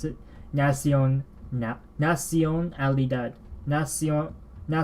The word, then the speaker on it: nación: left nah she on Nellie dad Nash Iona nación Nally dad it's a little faint alright so that's how I pronounced it just now as you heard me pronounce it nasty Owen nap nación Ally dud Nessie oh now see ya now